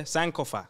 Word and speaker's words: Sankofa: Yeah, Sankofa. Sorry, I've gone Ghana now and they've told me how to pronounce it properly.